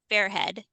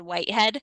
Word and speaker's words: Fairhead: And the last time I interviewed him, I introduced him as author David Whitehead. So if I say his name wrong this time, Ryan, you are required to go Fairhead, Fairhead, Fairhead.